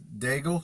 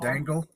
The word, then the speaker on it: Daigle: My last name is Dagel. Like a bagel instead of Dangle.